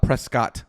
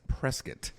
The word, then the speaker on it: Prescott: You don't know Prescott, even though Prescott is not Prescott, by the way, guys. It's Prescott. Yep. Even though phonetically that doesn't make any sense at all.